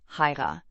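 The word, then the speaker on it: Haigha: His name is Hyra. He pronounced it so as to rhyme with mayor.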